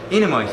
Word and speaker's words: Enamait: Am I pronouncing your name correctly? Enamait. Enamait, yeah.